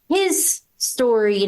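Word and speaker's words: HIStory: So for those who aren't familiar, why I said his is when you look at it, it's spelled like HIS. It is His capitalized. story. So it's supposed to be Michael's story.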